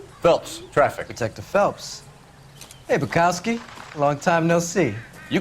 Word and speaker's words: Bekowsky: I always add an R. It's not Bekowsky, it's Bekowsky. And I say it wrong every time, and I'm going to continue to do so.